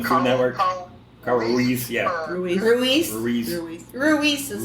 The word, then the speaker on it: Ruiz: Ruiz is how you say that name.